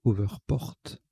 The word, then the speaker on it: hoverport: p o rt alors je rectifie la prononciation c'est over porte on prononce à l'anglais donc au vert porte